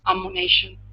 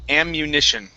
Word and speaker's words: ammunition: uh let's go to the word ammunition AMU ammunition amunition there you go okay very nice um